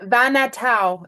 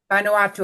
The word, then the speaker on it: Vanuatu: And Vanatau. It's Van Nu A TU. Anuatu. Vanuatu.